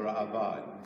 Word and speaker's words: Ra'avad: At the end of the Rambam, there's a comment by a gentleman called the Ra'avad. Some people mispronounce it, the Ra'avad. There are no yuds in the word Ra'avad.